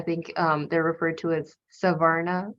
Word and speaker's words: Savarna: privileged people, I think they're referred to as Savarna, right? Is that how you Yes.